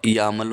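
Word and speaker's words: YAML: Okay, and इस यामल का क्या मतलब है? यामल का एक फुल फॉर्म होता है, इसको हम YML नहीं बोलते, इसको यामल बोलते हैं।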